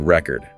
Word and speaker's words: record: But if you stress the second syllable, it's a verb meaning to preserve something in writing or audio. So it's a completely different word depending on where you put the stress.